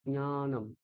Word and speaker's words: জ্ঞানম: এখানে একটা অনুনাসিক, মানে নাক দিয়ে একটু উচ্চারণ করতেই হবে। জ্ঞানম, ইয়া, আ, দেখছেন? বলছি না, আমি কি বলছি, ইয়া। তাহলে ঠিক উচ্চারণ হবে জ্ঞানম।